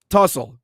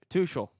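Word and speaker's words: Tuchel: Um, Thomas Tussell. All right, so we're going to talk about summer candidates here. Did I pronounce that correctly? Touchel.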